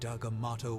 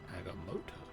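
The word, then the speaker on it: Agamotto: fainter by the great agamato will bring her back to us is that how you pronounce it I've been pronouncing that wrong by doing the film as well agamoto and here I thought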